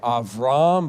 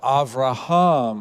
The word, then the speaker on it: Avraham: additional syllable so now it's no longer avram but avraham or as we usually say abraham so that larger name